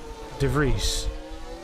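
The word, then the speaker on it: De Vries: close to Netherlands that it's it's pronounced DeVries oh man blue flags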